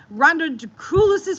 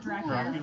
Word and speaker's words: Draculis: And just because you guys didn't hear before, we're over at Rhonda Draculis's place at RK3 Designs. I have to always push that out to make sure I say it right. Draculis. Not Dracula.